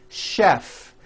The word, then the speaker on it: chef: of words that are spelled with CH and are also pronounced with the SH sound words like chef and the city of Chicago